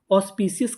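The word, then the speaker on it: auspicious: ए यू को हम लोग पढ़ते हैं ओ। क्या पढ़ते हैं? ओ। तो हमारी मीनिंग क्या बनी? ए यू ओ और आगे एस है। ओस पी आई सी आई पी सी ओ यू एस अस ओस पी सी ऑस्ियस। ऑस्पिसशियस। ऑस्पिशियस का मतलब होता है पवित्र। पूरी मीनिंग ऑस्पिसियस।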